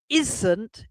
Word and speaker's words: isn't: And we've got words like aren't, which is one syllable, but isn't is actually two.